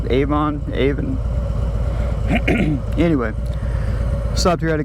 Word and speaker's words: Avon: I'm now in Avon, I believe is how it's pronounced. Avon.